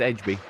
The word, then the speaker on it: EDB: you by the way you're pronouncing my name right it is Edge so that was good